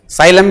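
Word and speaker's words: psyllium: साइलम भी नाम है इसका, पी साइलेंट रहेगा।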